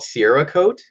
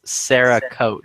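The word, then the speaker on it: Cerakote: it horrifically wrong right you call it SRA coat it's Sarah coat c e r a Sarah ceramic coat tomato okay not Sierra coat I didn't call it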